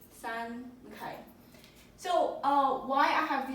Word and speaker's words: 三: This is when you pronounce it in Chinese, it's called san.